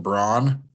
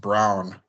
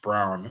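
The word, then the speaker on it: Braun: would say BR but it's actually pronounced Brown It's Christian Brown just like Jaylen brown but it's I know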